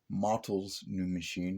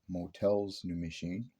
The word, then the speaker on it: Motel's New Machine: It is Motel's New Machine, not Motel's New Machine.